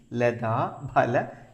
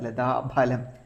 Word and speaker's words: ലതാഭല: സൂചിപ്പിക്കുന്നത് : നാഭ്യാലവാല റോമാലി ലതഫല കുജദ്വയി . ചിലർ ലതാഫലം പറയുന്നു. ഫ അല്ല, ലതഭലം. ലതാഭല കുജദ്വയി. മലയാളത്തിൽ നമ്മൾ സാധാരണയായി 'ഫ' എന്ന വാക്ക് ഉപയോഗിക്കാറില്ല . അത് 'ഫ' അല്ല, ഉച്ചാരണം 'ഭ' ആയിരിക്കണം.